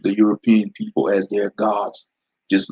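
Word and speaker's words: 五: That's how you say the number 5 in Japan, go.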